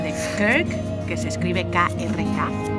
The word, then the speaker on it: Krk: Después de Rijeka fuimos a la isla de Krk, que se escribe K-R-K, Krk.